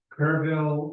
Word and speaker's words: Kerrville: Kerrville, and we're staying in Bernie. It's spelled Burn, but Texans don't know how to talk.